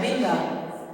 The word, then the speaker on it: Winter: E mesmo que você pronuncie um pouco diferente, mas não é Winter, é Winter. Sim, e daí que é Winter, tipo com D, não com T.